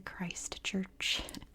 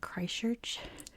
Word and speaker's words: Christchurch: very carefully Christ Church where I'm from in California we don't say the t's in the middle of words and we barely pronounce Siege is in the middle of words so I say like Christchurch so I have to say Christ Church just so I can